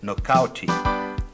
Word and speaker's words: knock out: venceu a luta por nocout. E a palavra nocout está aportuguada. Em inglês se escreve assim: knock out. A letra K no começo da palavra a gente não pronuncia, a gente diz simplesmente no.